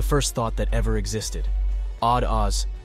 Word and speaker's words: Od oz: Odd Oz, pronounced Ode Oz, I see, or I, pronounced Ahe, I am.